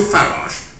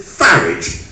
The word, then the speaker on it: Farage: where was I Nigel farage dear more bottles in the garage really don't want to disparage but he should pronounce it farage as in couron waloo showed those frenches what